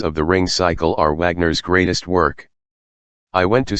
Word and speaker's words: Wagner: Unfortunately, my speech synthesizer is not very well educated, and it pronounces him with a soft W. I have to spell him V A R G NE R to get it to sound approximately right.